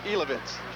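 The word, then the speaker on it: Jilovec: Love that name, Steve Ilovitz. That's spelled J-I-L-O-V-E-C. How they ever got Ilovitz out of that, I don't know.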